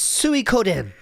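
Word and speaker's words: Suikoden: do another place get would you like the correct pronunciation peasant it is Su Coden Su Coden suen is what you're looking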